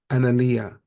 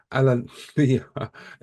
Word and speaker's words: Alalea: We've got a really special guest with us today, and that is Analia. I've said her name wrong. Uh, Alalea Kia.